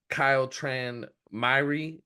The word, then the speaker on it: Kyle Tran Myhre: I got Kyle Tran Myhre. That's the correct pronunciation, right?